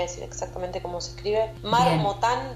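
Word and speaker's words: Marmottan: Marmotán doble T. Marmotán. Como una marmota. Dob T. Marmotán. Termina con N.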